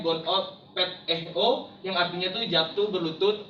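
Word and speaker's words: γονυπετέω: Dan berlutut dalam bahasa Yunaninya disebut gonupeteo, dalam pelafalannya gonopeteo, yang artinya itu jatuh berlutut atau hanya berlutut dengan lututnya, tetapi mukanya tidak sampai ke tanah.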